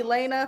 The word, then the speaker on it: Jahlaina: say yes but no okay you call me Elena from now you know what we we go we're gonna work with we're going to work with Elena I'm gonna be like Miss Lana yes okay